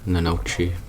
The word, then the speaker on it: gnocchi: Probably don't pronounce the G. It's probably gnocchi. Probably something like that.